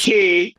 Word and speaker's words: Quay: quay which we love wait it's not it's not pronounced quai is it it's key let me secure my